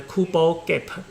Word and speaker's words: Kubo gap: the kubo kappa okay let's plant the pronunciation of these two uh these two words very similar cooper gap and kubo gap and the kubo gap